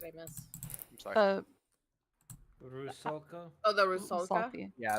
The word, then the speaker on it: Rusalka: I'm doubt I'm get pronouncing it right, but Rusalka? Rusalka? Rusoka.